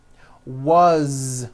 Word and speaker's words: was: As, you pronounce it with a voiced Z. As the phone rang. Was, which is a very common word.